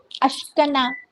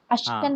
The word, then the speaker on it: Ashkenaz: Ashkenaz. Ashkenaz.